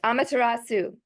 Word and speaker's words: Amaterasu: Am I pronouncing that correctly? Yes, Amaterasu. Yes.